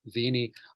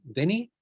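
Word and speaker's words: vēnī: but vini with a long a means I have come. Let's show it again. Veni und veni. So this is also an example of upload, stretching vowels to mean different things.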